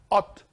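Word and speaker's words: אות: This is how you pronounce Ot.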